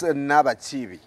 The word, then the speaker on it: Nabachibi: Well, I have guests this morning, Nabachibi. Is that the correct pronunciation? Yes, Brian.